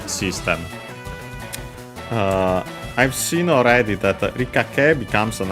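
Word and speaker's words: 理科: Yeah, first and foremost, we have this rikake, which technically is a compound, Chinese compound, but a bigger one. From Rika, that one on its own, accent on the first mora.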